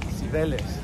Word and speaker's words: Cibeles: Cibeles.